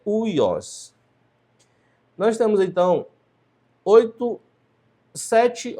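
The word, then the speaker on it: υἱός: É uma das circunstâncias em que o Y se pronuncia como U e não como Y. Então aqui a pronúncia não é ui y, mas é uios.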